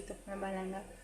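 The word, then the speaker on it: तुख़्म-ए-बालंगा: यानी जब शरबत बनाते हैं ना हम शरबत बनाते हैं तो ये तुफ़्मे बलंगा जो होता है, असल प्रोनाउंसिएशन है इसकी, तुफ़्मे बलंगा, वो नीचे बैठ जाता है।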